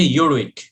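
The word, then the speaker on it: Urwick: উচ্চারণটা হচ্ছে ইউরউইক, লিন্ডেল ইউরউইক।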